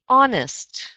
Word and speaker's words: honest: Honest. Honest. Excellent. And just be very careful in conversation to remember that that H is silent.